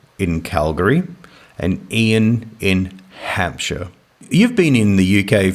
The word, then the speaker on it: Hampshire: Hampshire. Shear, is it? Like shearing a sheep.